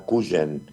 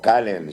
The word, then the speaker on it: Cuyen: Te quiero contar y te te quería para que sepan, se llama Cuyen porque se escribe Sí. O Calen, si sería en inglés, pero es cuen José María Cuyen es el hospital.